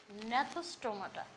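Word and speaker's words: Gnathostomata: দুইটা অধিশ্রেণী আছে, অ্যাগনাথা, আর 2 নম্বরে আছে ন্যাথোস্টোমাটা। বানানটা দেখে নিও, জি ন্যাথোস, জি প্রথমে দিয়ে দেবে, উচ্চারণ ন্যাথোস, টো মা টা।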